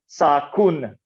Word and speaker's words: sakun: to spell the word sakun so i could have spelled it as sakunu but i'm lazy and in pronunciation that final n is so weak that it is often dropped so i just thought